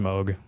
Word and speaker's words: Moog: actually the super old interview of him at Moog Fest which do you know what that is it's like a synthesizer company by the way but is it it's pronounced Moog oh okay not to be that guy at